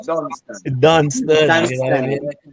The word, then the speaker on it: Dunstan: Not, Dunstan. Dunstan, you know what I Dunstan. mean? But you see, coming from Newtown, just like you, we never call you Dunstan, you know.